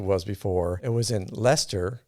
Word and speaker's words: Leicester: before it was in leicester i don't say it like chester anymore it was in leicester which was quite a